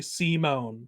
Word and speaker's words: Simon: I think despite the fact that it's spelled Simon, they say it's Simone.